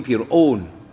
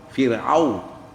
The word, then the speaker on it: فرعون: أو وفرعون fais attention en ourdou nous n'habituons prononcer Fir'aun mais en arabe sa vraie prononciation c'est Aou Fir'aun وفرعون ذي ذال دبوت